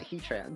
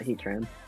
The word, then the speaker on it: Heatran: shadow ball now yeah it's heat ran not heat tran i mean that makes